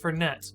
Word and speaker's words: Fernet: Well, it's pronounced Fernet. Oh, okay, because it's Italian.